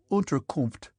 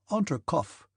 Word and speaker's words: Unterkunft: "Unterkunft," Pierre repeated. "Unterkopf," said the captain, and looked at Pierre for some seconds with laughing eyes.